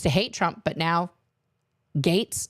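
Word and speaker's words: Gaetz: hate Trump but now Gates not gats Gates Matt Gates okay well they should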